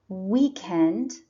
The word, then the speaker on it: weekend: school on these days remember that weekend and weekday have the stress on the first syllable week that's why it is underlined what day is it